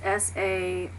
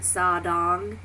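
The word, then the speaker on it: 사랑: Hearing it's SARANG, but the R's is actually an L. So pronouncing it as an L instead of an like a D sound, because I've always heard sadang, but they actually say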